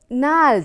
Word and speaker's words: gnarled: Gnarled, I told you, G is a silent word here. G is a silent letter. You have to pronounce this word as gnarled.